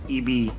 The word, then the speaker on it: ibi: that's called eb um it's spelled as ibi but that's how you call it eb and this is like